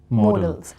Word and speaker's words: modals: auxiliary verbs and modals people often pronounce this word as model that is wrong it should be more else because models m-o-d-e-l that